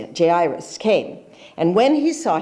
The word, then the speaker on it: Jairus: And he's one of the leaders of the synagogue, came to him, and his name was Jairus. That's how you say it. Jairus came.